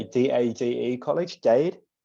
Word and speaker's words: Miami-Dade: I don't know how to say it, DADE College, Dade? Miami-Dade, yeah.